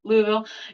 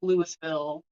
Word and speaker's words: Louisville: Louisville. Yeah. That's mostly how people say it around in Indiana. I don't know if I've heard some people say like Louisville, or I think his dad calls it Louisville.